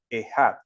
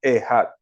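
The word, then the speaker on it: אחד: sinagoga, toda la congregación repite la última palabra, Ejad, la que ustedes ven allí que se escribe Achad. La palabra hebrea para uno en español es esa, Ejad.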